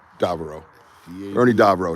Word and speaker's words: Davieau: Ernie Davieau. Depends. Yeah, look at that. It sounds funny because you're not used to hearing it pronounced correctly.